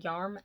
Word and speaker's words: Jarm: it's Jarm del Boccio, because on the back it says the J is pronounced as Y, so I'm saying Jarm del Boccio.